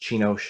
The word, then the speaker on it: Csinos: i grew up um sinus is a hungarian name it's actually pronounced chinosh in hungarian and i grew up